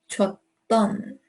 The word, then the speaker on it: 줬던: This is one D, but because we're connecting words, it is going to be two D's. It's going to be pronounced that way. 줬던 두 날개로.